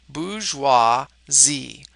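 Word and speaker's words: bourgeoisie: have the bouge Z this one is hard to say so you should try to pratice it's basically three syllables bouis Z BGE Z bgeo are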